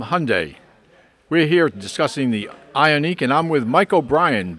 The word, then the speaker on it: Ioniq: find in a brochure just remember to pronounce it ionic rhymes with ironic this week RPM news